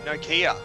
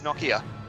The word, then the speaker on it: Nokia: the cell phone company you'd say Nokia but over here it's Nakia I don't see it